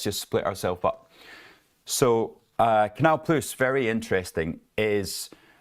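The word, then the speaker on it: Canal+: Canal Plus. So it's like it's a plus sign, but they think they're still French. So Canal Plus.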